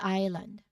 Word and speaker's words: island: This is a perfect example of the S being silent before an L, okay? Even though you see the S, we pronounce it as island, okay?